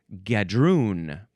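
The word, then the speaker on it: gadroon: It was like a Next is gadun.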